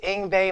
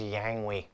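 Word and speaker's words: Yngwie: It's Ingbe Malmstein. Now, for years and years, I couldn't pronounce his name. I thought his name was Yangwe.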